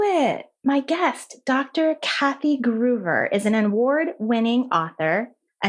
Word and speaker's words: Gruver: Gruber am i pronouncing your last name correctly you are yeah